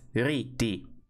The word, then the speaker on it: ridi: So for example, if you have ridi, which means to laugh, it's ridi. The stress is here. Or if you have like giornalo, the stress is here.